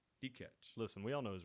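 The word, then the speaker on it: Dikeç: How do you say that? D-check? D-catch.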